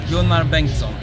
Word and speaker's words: Gunnar Bengtsson: Let me say it the Swedish way. Gunnar Bengtsson.